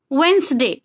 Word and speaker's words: Wednesday: वेडनेसडे नहीं होता है, वेंसडे. वेडनेसडे नहीं बोलना है, Wednesday. D would silent.